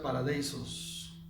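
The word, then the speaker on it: παράδεισος: Esa palabra se pronuncia paradeisos en griego.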